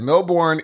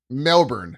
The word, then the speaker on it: Melbourne: Melbourne is pronounced Melbourne instead of Melbourne.